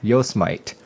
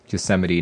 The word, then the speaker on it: Yosemite: to the united states i always used to pronounce this as yo smite yo smite you know until my until my wife corrected me as we drove through yosemite national park i was like oh we get